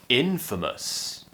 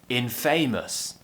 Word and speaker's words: infamous: thing about this is it's very good for your schwa practice now remember the schwa